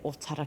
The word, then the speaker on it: Otara: I'm going to say Otara because that's how you say it, eh?